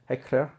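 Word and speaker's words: Hechler: Et puis on peut encore citer William Heckler, Hchler on dit, mais on me dit il faut dire Heckler.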